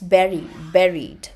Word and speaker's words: buried: It's not bury. आधा घुसा हुआ, जमीन में गड़ा हुआ. So, how do you pronounce this word? It is not bury, but it is buried.